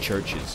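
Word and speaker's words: CHVRCHES: Foods is playing churches it's just pronounced churches and hell I pronounced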